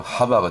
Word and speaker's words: 하바: 나머지 해, 와우, 해 요거는 이제 히브리식 발음으로 하바가 되거든요.